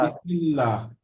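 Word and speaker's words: بسم الله: এই যে এখানে আল্লাহ শব্দের ডানে কি এসেছে? জের এসেছে, জের। জের জের জের এসেছে, এসেছে, জের। তাই এটা হবে বিসমিল পাতলা। বিসমিল্লাহ।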